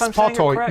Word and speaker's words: Spartoi: Yes, Spartoi. Yeah, that's the right word. It's a Greek word.